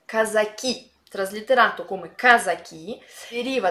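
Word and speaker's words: казаки: è sotto al video i cosacchi è in russo si pronunci come casa chi traslitterato come casa chi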